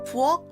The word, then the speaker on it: 부엌: Kitchen in Korean is called 부엌. We write 부엌 like this, but the pronunciation is 부엌.